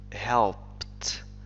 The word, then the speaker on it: helped: لاحظ بأن ed تنطق ت, helped, helped him, ساعدته.